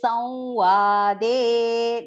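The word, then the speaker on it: संवादे: Please note, it is Samvade. Nasal, the Anuswara pronunciation here is nasal verb.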